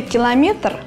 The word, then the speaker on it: километр: правильной русский слове километр ударение надо ставить на третьем слоге она падает на гласную е именно эту литературную норму